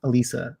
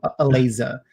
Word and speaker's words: Eliza: One of our earlier guests, her name is WTF Elisa, or Eliza, as she would correct me, because that is the correct pronunciation of her name.